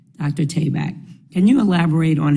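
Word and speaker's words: Tabak: your name tayback on to be correct Dr tayback can you elaborate on how initiatives such as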